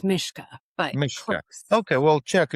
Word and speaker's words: Myska: So today we have uh Tracy Muska um if I'm pronouncing the last name correctly. Actually it's it's Czech. So it's Mishka but okay.